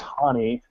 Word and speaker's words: Honi: We actually talked about this before we went on the air, but it is pronounced Honi. Like H-A and then knee, like Festus Ezeli's knee injury problem.